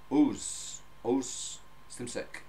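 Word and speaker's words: Oğuz Şimşek: been researching his name, it's O-G-U-Z and hyphen above the G, so it's not pronounced. So as far as I know, and I've listened to many translations, it is pronounced Oz Simsek from Nuremberg.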